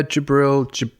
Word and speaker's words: Jibril: You've also launched your own clothing brand, Jibril. Am I pronouncing that right? Yeah, Jibril.